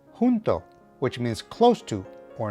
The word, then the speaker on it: junto: And finally, whenever you see the letter J, treat it as if it were an English H at the beginning of a word. For example, this word would be pronounced junto, which means close to or near.